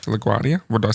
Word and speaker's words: LaGuardia: word they were they were to return to LaGuardia field in New York LaGuardia is the airport in New York in case you didn't know yeah LaGuardia LaGuardia what did I say langu Guardia no I